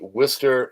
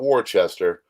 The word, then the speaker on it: Worcester: Last August, Rob Hmans committed self harm after the Worcester City Council, that's how you pronounce that, it's not Wararchchester, uh refused to give him housing and help